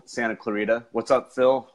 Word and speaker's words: Clarita: Yeah, without the roll of the R. Clarita.